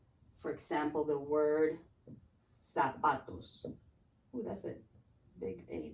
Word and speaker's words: zapatos: The Z's in Spanish, they sound like S's. So every time that you see a Z, pronounce it like an S. For example, the word zapatos.